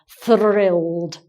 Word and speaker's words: thrilled: difficult to say because it's not just the th which is hard for some people but there's an R as well so it's thrilled it's quite hard to